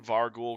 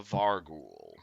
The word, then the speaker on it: Vargouille: Vargouille. Yeah, Tarek's dealt with these fuckers before. G-O... I linked it in session stuff. Vargouille. Alright. Vargouille. Like wheel.